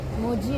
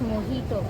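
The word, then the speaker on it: mojito: we order green Apple it's नॉट मोजी its pronounced S मोहितो मोहि इटस नॉट ही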